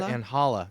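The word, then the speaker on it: Ángela: i mean yeah in in spanish the g is pronounced with an h sound right right correct so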